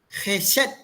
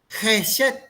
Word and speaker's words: חֶסֶד: Esta palabra es una palabra hebrea que se dice o se pronuncia Jes. Jes.